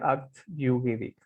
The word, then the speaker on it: acte juridique: Pero en realidad cuando en francés, si la E, perdón, no está tildada, ustedes saben, de repente algunos lo saben, no suena, no se pronuncia, no suena. Entonces la pronunciación correcta sería acte juridique, ¿no?